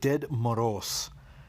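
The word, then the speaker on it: Дед Мороз: So we're going to start off with Ded Moroz, is how it's roughly pronounced.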